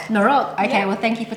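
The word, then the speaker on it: noroc: We say norok. Norok.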